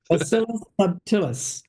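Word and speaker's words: subtilis: Jim could probably pronounce this properly. Bact baculus subt whatever subtillus.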